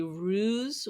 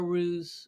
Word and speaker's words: ruse: well they say the the pronunciation could either be ruse with like a z sound or ruse with an S so I guess okay